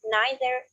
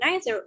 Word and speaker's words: neither: And also, don't forget that you can pronounce it like either, neither, or either, neither, if you want to. There is no difference right now, at the moment, between American and British pronunciation for these two words.